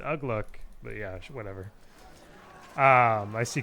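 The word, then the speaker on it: Uglúk: Looks like Poero's bringing out Ugluk. Honestly, there's probably someone out there that's like, Ugluk, what do you mean? It's Ugluk.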